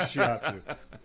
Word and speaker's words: Shiatsu: not the little Japanese dog. It's not Shih Tzu. It's Shiatsu. Can be.